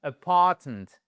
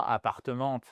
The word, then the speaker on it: apartment: He'll show us his new apartment. Apartment. Apartment. Et pas appartement.